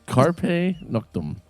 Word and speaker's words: Carpe Noctem: How do you pronounce that again? Carpe Noctem.